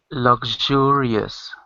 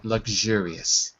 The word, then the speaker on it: luxurious: that symbol looks like a number three is pronounced J like measure so L Lu luxurious that's it luxurious good luxurious that's it very good very good